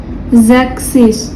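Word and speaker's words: sechzig: 2 का क्या होगा, स्वाई und ज़ैक्सिस, ज़ैक्सिस। अब यहाँ ध्यान देना है, इसका प्रोनाउंसिएशन क्या होगा, ज़ैक्स, थोड़ा सा सौ का साउंड आना है, ज़ैक्सिस, ज़ैक्सिस।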